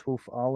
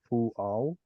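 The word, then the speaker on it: הֻפְעַל: How did you know it was hufal and not hual? I don't know. Because the u is under Ooh. the hey instead of under the first root letter.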